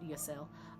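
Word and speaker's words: Ysayle: And I think it's the the Y is I think her name is like actually pronounced Yale.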